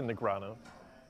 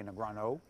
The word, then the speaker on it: Negreanu: I would say Negrano. Very close, very fine with accent. It's there's no O. A lot of people say Negrano.